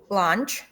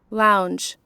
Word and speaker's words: lounge: moving on to the next one uh departure lunch departure lunch lunch white very well you need to pronounce it right uhhuh departure what departure okay